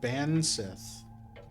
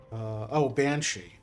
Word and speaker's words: banshee: She's a type of Bansith. Sorry. I know I'm pronouncing every single Irish word incorrectly. Banshee.